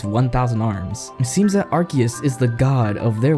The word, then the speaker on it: Arceus: And yes, I checked the official pronunciation. It is in fact Arceus.